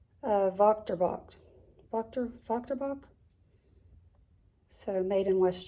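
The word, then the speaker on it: Wächtersbach: Now, it starts with a W, but I'm pretty sure you pronounce that Vochterbach.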